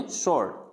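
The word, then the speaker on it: sword: स्वॉर्ड नहीं होता है, स्वॉर्ड यानी तलवार होते हैं, तलवार, तो उसको स्वॉर्ड नहीं बोलना है, क्या बोलना है उसको, स्वॉर्ड, क्या बोलेंगे, स्वॉर्ड।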